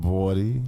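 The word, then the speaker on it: BXDY: On the song Body, which is spelled BX DY. Bawdy. You know what I'm saying? Say So that yeah, again. Say that again. Bawdy.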